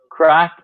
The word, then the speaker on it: craic: spelled like yeah so crack because it's an Irish term it's spelled like this but the pronunciation is still the same as crack like when you crack your knuckles or something like that